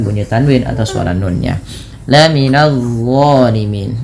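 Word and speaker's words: الظالمين: Laminadzolimin. Nah, ini d jangan dibaca lam minzalimin. Tapi lihat d pangkal lidah terangkat ujung lidah menempel dengan gigi atas.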